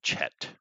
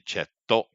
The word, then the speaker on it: Chet: Japanese, so they don't quite pronounce it right, so they say Cheto.